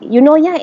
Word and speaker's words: Eunoia: scratch head and learn how to pronounce the word you know. Yeah. You know how our Malaysian style say you know you know. Yeah. It's actually the same pronunciation as that.